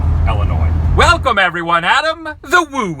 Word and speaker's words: Illinois: make some noise cuz we're in Illinois correctly pronunciated Illinois welcome everyone Adam the woo here I'm very